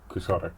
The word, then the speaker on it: quixotic: But something that is Quixotic or Quixotic, because it's kind of weird because you can pronounce it either way depending on if you're... Anyway, is something where you